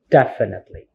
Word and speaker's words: definitely: is the stress so the stress here is in the first syllable definitely so when it comes to stress it's like you have the high tones on this definitely it's not in second syllable like definitely definitely definitely rights and then are there silent letters in the words definitely yes if you compare the phonetic transcriptions and also the word then the silent letter is in E indefinite the last word after t now let's take